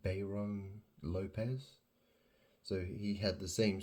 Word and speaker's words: Lopes: as her I think the only difference was like the Zed and the S were different it was the end letter it was Lopez but they both pronounced exactly the same Lopez and so right before